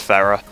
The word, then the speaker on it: Ferrer: I butchered his name last time, and I realised afterwards that it's just Ferrer. It's not very hard to pronounce, but there you go.